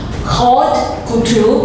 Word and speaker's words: haute couture: This is called high-end, high-class couture, haute couture, but the T doesn't sound. Haute couture, well, something like that. Right. So the H doesn't sound, right?